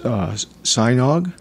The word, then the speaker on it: Sajnog: Chris Sajnog. Am I pronouncing that right, Chris?